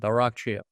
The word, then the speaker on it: Arakcheyev: I know a lot of people will be like, how do you pronounce it? Arakcheyev.